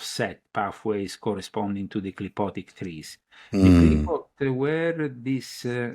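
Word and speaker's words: Qlippoth: So the clipotic powers. Now, the clipot is something, I don't know if you ever... What's it called again? The clipot.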